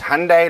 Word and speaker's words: Hyundai: i had i had its hyundai like sunday so well that makes